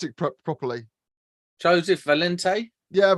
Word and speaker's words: Valente: You can pronounce it properly. Joseph Valente? Yeah, Valente.